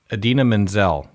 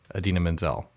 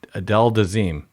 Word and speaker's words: Idina Menzel: the artist's name or an actor i think is idina menzel i-d-i-n-a-m-e-n-z-e-l adina menzel and he said adele dazeem close enough well